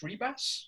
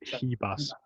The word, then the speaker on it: Ribas: think is it pronounced Ribas or? Well, in Portuguese they pronounce R's as H's. Oh, okay. So it's Ribas. Ribas.